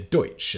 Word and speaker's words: Deutsch: offshoot of German, with it often called Dutch simply from people mispronouncing the original Pennsylvania Deutsch as in German.